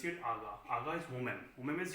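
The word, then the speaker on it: agá: They pronounce it aga.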